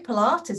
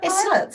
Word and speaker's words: Pilates: Unless you hear someone say Pilates, it looks like pilots.